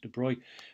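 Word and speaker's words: de Broglie: had this guy yeah so you had this Detroit person his name is smelt like that abruptly but it's pronounced Detroit and he basically said well why couldn't it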